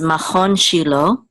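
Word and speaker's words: Machon Shilo: forgot his name but his YouTube channel is Mahon Shilo m-a-c-h-o-n and then s-h-i-l-o and he usually when he reads Hebrew he pronounces it the ancient biblical way oh because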